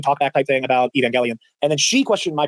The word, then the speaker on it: Evangelion: So I was like, "I think it's a soft G, but that is just been The soft G is the Gellion. The hard G is the Gellion. Either way, I've always said Gellion.